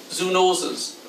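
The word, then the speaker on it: zoonoses: to humans and it's spelled just with the word zoo and then the word noses so zoo noses are what we catch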